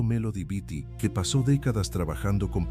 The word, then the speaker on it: Melody Beattie: La investigadora Melody Beattie, pronunciado Melody Beattie, que pasó décadas trabajando